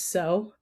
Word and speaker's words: Tso: So, you so And how funny is it that our team, once we learned how to actually pronounce Tso and it was so, it just became like part of our entire vernacular.